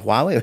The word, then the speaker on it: Huawei: So I think the problem with Huawei, is that pronounced Huawei? Huawei, that's the right word, yeah, Huawei.